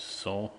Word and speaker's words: SOH: And the phonetics come from SAW, standing for sine is equal to O upon H, which you can pronounce as SAW as a summary.